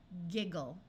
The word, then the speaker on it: giggle: fid gamble gamble now G sometimes has a soft J sound before an I but it does not have to do that in this case we're going to use the hard G sound of G gigle giggle let's practice